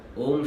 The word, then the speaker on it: ओम: ओम शब्द 3 दूसरे शब्द आ, उ और म। आ, उ और म, इन 3 शब्दों से ओम शब्द का निर्माण होता है। जब भी ओम का उच्चारण होता है तो इन तीनों शब्दों को हम एक साथ एक ही लय में उच्चारित करते हैं, तब हमारे ओम शब्द की ध्वनि उत्पन्न होती है।